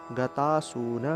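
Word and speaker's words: গতাসূন্: স এর মত ভাষাসে গতাসুন গতাসুম গাতাসুনা গতাসুস এই যে দন্তস্বর উচ্চারণ স এর মত এবং এই যে অনুস্বারটা মাঝখানে রয়েছে সেক্ষেত্রে উচ্চারণটা ন এর মত গতাসুন গতাসুন গতাসুন গতাসুন তালিবসের উচ্চারণ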